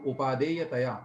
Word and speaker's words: उपादेयतया: नहीं ऐसा नहीं पढ़ा, सुनिए हमारा उच्चारण, तस्मिन्नुपादे यतया चिदात्मा, ऐसा।